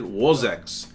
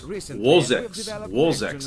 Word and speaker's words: Vozex: Actually, he pronounces it Vozex. And Slavic people pronounce their V's with a W. Maybe they're from Poland, I don't know, or Russia. So it's Vozex instead of Vozex, as we say in English.